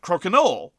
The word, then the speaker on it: crokinole: of the woods, and a number of people who have been playing the game, let's just call it the game for now, for many generations, pronounce it crokinole, and directed most of their ire at me, which seemed inappropriate.